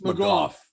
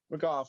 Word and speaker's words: McGough: Is that how you pronounce his name? I think it's McGough. Yeah, McGough, right.